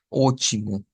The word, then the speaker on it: ótimo: Entonces, la T en el portugués debemos tomar en cuenta que en muchas ocasiones no va a sonar a T, sino que va a sonar a CH, como en esta palabra.